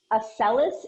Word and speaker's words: Accellus: Accelis. It's spelled ACCELLUS.